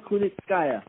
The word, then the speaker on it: Kunitskaya: Saying that right, Yana Kunitskaya. You did say it right.